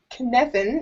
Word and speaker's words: Cynefin: Okay, so Cynefin, it's spelled Cynefin, and it's sort of like this grid of 4 different types of, I guess, complexity.